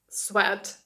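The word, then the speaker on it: sweat: це в нас сорочка А це слово читається як Свет Свет - це піт тобто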